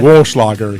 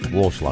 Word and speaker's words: Walschlager: Walschlager. He's like wool, like a sheep. Walschlager.